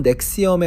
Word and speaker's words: NXIVM: 발음은 넥시엄에 가깝고요.